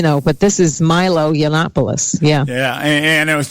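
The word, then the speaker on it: Yiannopoulos: lately in the media Milo yopos I think that's how you pronounce his name yes that's actually yannopoulos I know it's a tongue twister ganopoulos yeah yeah it's kind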